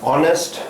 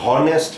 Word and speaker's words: honest: It means HONEST, ऑनेस्ट हम बोलेंगे, उसको हॉनेस्ट नहीं बोलेंगे, इसलिए टाइप ऑफ दैट कि ये साइलेंट है यहाँ पे वर्ड H, ऑनेस्ट, ओ से शुरू हो रहा है।